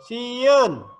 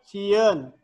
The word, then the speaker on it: sieun: Terus sieun di tengah, dibacanya sieun, bukan dibaca si eun, salah. Si eun salah, harusnya sieun. Terakhir di tukang di akhir sampe, bukan sampeu, bukan, tapi sampe.